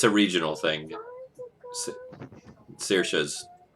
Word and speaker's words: Saoirse: Saoirse's probably closer to the traditional accuracy. I've heard it where they somehow simultaneously pronounce all of the vowels. Saoirse, yeah. Saoirse. Like, if it goes fast enough, it sounds like they said an A, an O, and an I all at the same time.